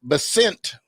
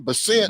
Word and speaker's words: Bessent: Bessent. I got the correct pronunciation. Bessent. Wrong syllable.